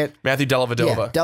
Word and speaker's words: Dellavedova: Matthew Dellavedova. Yeah, Dellavedova.